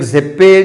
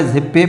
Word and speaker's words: ZebPay: होनी चाहिए, तो आप जो है वो एक ज़ेप्पे जो है वो एक अच्छा है।